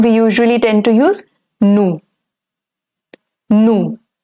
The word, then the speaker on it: nous: And the formal way, or in the written form, we usually tend to use nous. Nous. The S over here in N-O-U-S is going to stay silent.